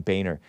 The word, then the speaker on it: Boehner: According to a LinkedIn profile, worked for John Boehner, spelled Boehner. So some of us thought that it was pronounced differently, but it's pronounced supposedly John Boehner.